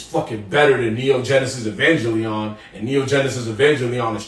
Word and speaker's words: Evangelion: It's Evangelon. No. Where he was like, what? What'd you say? No, you pronounce that again. How the true nerds will say is Evangelion.